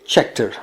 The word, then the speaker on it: Scheckter: with South African Jody Scheckter, or as Arie Luijendijk would say Schechter, which probably is the correct pronunciation of this name anyway.